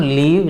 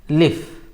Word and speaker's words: live: The way we pronounce live, it is not leave, it is live. It is short.